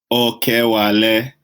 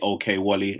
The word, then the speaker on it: Okewale: Okewale, or if you are not going to use the African accent, you can just say okay, Wally, and I won't take offence.